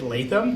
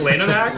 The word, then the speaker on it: Lanham Act: I think I said Latham, like the law firm, for the act. If you're listening to this and you're an IP attorney, I am sorry. I did not. That is not the correct pronunciation of that act. It's Lanham Act or whatever.